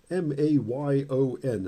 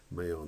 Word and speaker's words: Mayon: The volcano apparently is Mount Mayon, M-A-Y-O-N is how you spell it, and I believe it's pronounced Mayon, not Pinatubo. It's not Mount Pinatubo.